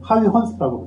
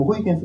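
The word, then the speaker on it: Huygens: 영상에서는이 사람이 호이겐스 사람이 네덜란드 사람인데 그 즘에는 하위 스라고 불요 그니까 현지 발음으로 이름을 부르는 걸 많이 하잖아요 옛날에는 뭐 중국 사람들 이름도 등속 그랬는데 샤오 이렇게 하듯이이 호이겐스 전통적으로 불렀고 칼도 발음 호이겐스 비슷하게 해요 뭐 이건 미국식 발음인 거죠 그니까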